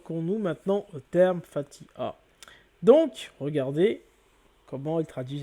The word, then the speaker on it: Fatiha: En sachant que le H à la fin n'est pas prononcé, le H est muet, Fatiha.